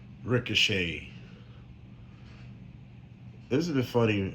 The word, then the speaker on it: Ricochet: Ricochet. Isn't it funny how you spell ricochet, but for some odd reason you don't hear the T at all?